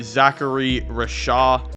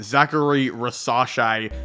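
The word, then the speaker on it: Risacher: Well, I do have them taking Zachary Rashad. Hold on, scratch that. I definitely mispronounced his name. Zachary Rasache, I should say.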